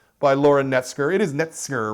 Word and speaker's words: Knetzger: It is Knetzger, right? That's I got the pronunciation there? It's Knetzger. Knetzger, okay, Knetzger, very, very good.